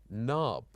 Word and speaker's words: knob: right light night and also letters that are silenced like the letter K when it followed by n for example knob knee knife knock and also we